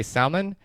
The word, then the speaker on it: salmon: and when I say Salman I pronounced the L the L is not silent not in my vocabulary